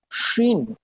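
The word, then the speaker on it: شين: শিন, এর উচ্চারণটা হচ্ছে এস এইচ, শিন। স্বাধীন, সুন্দর, সার্বভৌমত্ব, শিপ, শিওর।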